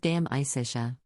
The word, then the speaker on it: De Amicitia: We finished Livy and De Senectude and are now engaged with De Amicitia, pronounced Dam Isitia.